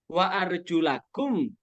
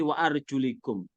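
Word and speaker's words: وَأَرْجُلَكُمْ: Baru wa arjulakum.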